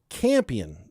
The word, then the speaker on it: Campion: Much of this occurs in the Campion district. I think that's how you pronounce that. It's like champion, but it's missing the H.